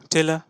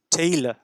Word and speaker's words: tailor: Next TAILOR, টেলা না, কি? টেইলার, টেইলার, টেইলার। আর এর উচ্চারণ দেখছেন সাপ্রেসড, খুব সামান্য অংশে উচ্চারিত।